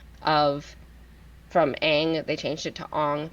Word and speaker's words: Aang: Um, but he wanted it to be for the Japanese pronunciation of Aang would be Ong.